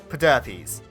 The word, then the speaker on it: Pederpes: piece in the evolutionary puzzle, Pederpes. No, that's actually how it's pronounced.